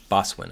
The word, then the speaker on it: boatswain: It's not, you don't pronounce the T, I think. Boswin, I think, is how you say it.